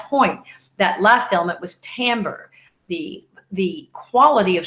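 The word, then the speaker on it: timbre: at your earring and Tambor t IM bre using the french turn 10 it sounds like as if it's spelled differently because that's French for you right oh my French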